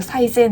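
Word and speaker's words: 最善: 헷갈리게 해 놓다 말이죠 예를 들어 최선이라는 단어가 우리가 사이젠 이잖아요 근데 그 사이젠 사이세 있지 자센 있지 이렇게 막 헷갈리게 적어 둔단 말이죠 그걸 우리가 얼핏 공부를 했다면 헷갈려요 봤을 때 그래서 제대로 외워야 돼요 사이 센지 사이 젠인 그래서 말을 하면서 단어를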